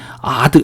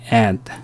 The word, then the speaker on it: add: 그래서 우리가 이걸 발음할 때 add 뭐 이렇게 발음 안 하고요. add 애 발음을 해 주는 겁니다.